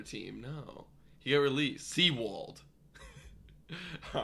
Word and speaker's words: Sewald: Yeah, Seawald, okay. Like that, like spelled like that. Oh, Seawald.